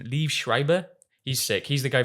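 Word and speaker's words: Liev Schreiber: And then um how do you pronounce his name? Leave Shriber.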